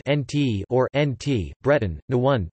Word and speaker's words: Naoned: Nantes, N-T, listen, Gallo, Nantes or Nantes, pronounced N-T or N-T, Breton, Nouent, pronounced N-Went, is a city in Loire Atlantique on the Loire, 50 kilometers 31 miles from the Atlantic coast.